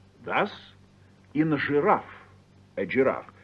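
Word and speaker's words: жираф: and G thus in giraffe a giraffe it looks like giraffe but it's pronounced giraff yes similarly the word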